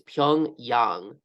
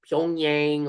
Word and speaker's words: Pyongyang: The correct pronunciation is Pyongyang. So not Pyongyang or anything like that.